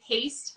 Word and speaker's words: Hoechst: having clinical conversations and haste hopefully i said your last name correct that was good did i say it right yep you did okay um you are